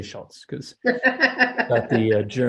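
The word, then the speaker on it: Schötz: her name is Dr shitz so but I prefer to say Schultz because at the uh it's got a Swedish o with the two um dots on top of it and I guess that's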